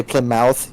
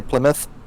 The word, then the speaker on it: Plymouth: have plymouth you know you don't say plymouth you say plymouth it's my no it's plymouth oh you [ __